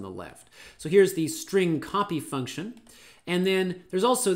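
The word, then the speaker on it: strcpy: something like this but i pronounce this as string copy the string copy function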